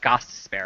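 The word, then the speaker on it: Gostisbehere: oh okay yeah uh gospel is how you say his name Augustus there yeah but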